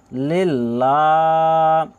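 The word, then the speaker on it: لِلّٰهِ: আত্তাহিয়াতু লাম লাম জেরে লিল লাম খারাজবার লা লিল্লাহ হাজেরহি লিল্লাহি লিল্লাহি আত্তাহিয়াতুলিল্লাহি এখানে এইযে ইয়া আলিফ যুক্ত রয়েছে এখানে এটাকে বলা হয় আলিফ মাদ্দা আপনারা এখানে এক আলিফ পরিমাণ টানবেন কি বলবেন আত্তাহিয়াতু আত্তাহিয়াতু লিল্লাহি এখানে লামের উপরেও খারা জবার রয়েছে এখানে এক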